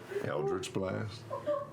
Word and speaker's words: eldritch: pronounce that how would you say those words eldritch blast blast no well hell i missed the old way you said it oh no eldritch blast yes that's better you just sort of you